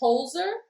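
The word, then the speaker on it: Budenholzer: deal so mr mike buttonholes here head coaching career it's holzer i was like i thought you were telling me i was saying it wrong i was like there's an l there so listen to me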